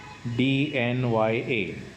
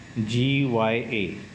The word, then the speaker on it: ज्ञ: और ये जो है इसको मराठी में पढ़ते हैं ज्ञ, DNYA, ज्ञ। और हिंदी में इसको पढ़ते हैं ज्ञ, GYA।